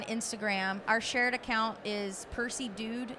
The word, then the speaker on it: PercyDewd: Our shared account is Percy Dude is our brand name, and that is spelled PERCYDEWD. It's kind of weird spelling, but that's us.